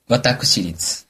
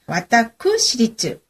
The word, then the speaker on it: 私立: 발음을 구별하기 위해서 아까 사립하고 어 시에 사는 시리지는요 그냥 그대로 쓰고 개인이하는 사립이라는 의미는 와다크시리즈 와다쿠시리즈 이렇게 쓴다.